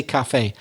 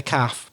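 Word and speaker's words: café: very southeast of Eng we would always say Cafe but I know that many people in the south of England say hey let's let's have a drink in the calf but we never say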